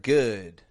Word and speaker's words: good: few times already today, a lot of people will exaggerate the pronunciation of that sound. And they'll kind of move their lips when they say it to make this ooh sound. And instead of getting a good, they'll get a good.